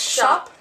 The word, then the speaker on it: Shoppe: a a message saying it's pronounced shop and I was like no who pronounces anything shop we like shoppy honestly she's so proper